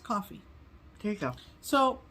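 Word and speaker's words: Ko-fi: and um they are Kofi Kofi well somebody commented and said it's just pronounced coffee there you go so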